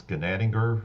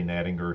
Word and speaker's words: Gnadinger: It's in German, it's Gnadinger, which means most gracious. I just say Gnadinger here in the United States. We kind of toned it down when we got here.